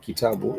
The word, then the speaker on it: kitabu: So this word kitabu, it shows us those 3 syllables.